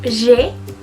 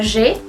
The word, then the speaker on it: j'ai: Entonces, si se dan cuenta, cuando yo digo j'ai 21 ans, ya no pronuncio la E del je. ¿Se acuerdan lo que les decía? Que si terminaba en vocal y la otra palabra comenzaba en vocal, se suprimía. En este caso ocurre lo mismo. Entonces, se pronuncia j'ai.